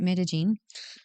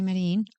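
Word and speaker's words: Medellín: know that I think the locals there pronounce it midene yeah so but some people say medine yeah I I probably will still be saying that because that's how I was taught originally how it was pronounced um so the metag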